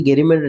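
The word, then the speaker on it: gerrymander: इसको हम गैरीमैंडर पढ़ ले आप, जो जैसे जैसे अगर स्पेलिंग याद करना हो तो इसको जेरीमैंडर पढ़िए। हालाँकि गेरीमेंटर ठीक है, जे अगर पढ़ेंगे तो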